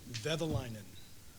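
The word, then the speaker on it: Kekäläinen: Kekalainen.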